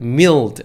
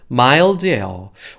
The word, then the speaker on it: mild: 이거 읽으실 때 mild를 mild 아니고 I 발음 나는 mild예요.